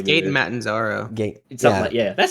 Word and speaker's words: Matarazzo: It's Gaten Matanzaro.